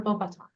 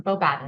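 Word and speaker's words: Beauxbatons: Victor Chrome is from Durmstring and Fla Lor is from Bobata or Bobaten, right? Depending on how you say it.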